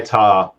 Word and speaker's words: Ptah: I'm the tarot guy I'm the tarot by tah uh tarot by Todd that last part is spelled p-t-a-h I'm on Facebook I do way